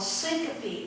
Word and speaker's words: syncope: They were called syncope episodes. Look that up. How do you spell it?